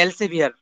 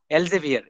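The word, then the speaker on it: Elsevier: এটা আসলে এলসেভিয়ার, উচ্চারণটা হলো এলসেভিয়ার। আমরা এলসভিআর বলে ফেলি আর কি সংক্ষিপ্ত ভাবে। এলজেভিয়ার, এলজেভিয়ার, ঠিক আছে।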